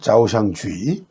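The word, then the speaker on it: 招商局: 경제특구를 구상하게 된 중요한 계기는 중국 정부가 홍콩에 설립한 초상국, 중국 발음으로는 자오샹주의, 기업유치국 정도의 뜻이죠.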